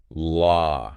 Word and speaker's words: law: And now for a word that even native speakers sometimes mispronounce law. Yeah. So you just say law, right? It is. But it actually rhymes with or with that L sound at the beginning.